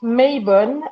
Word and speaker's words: Mabon: Donc on prononce Maybon et pour les Celtes on dit Modron.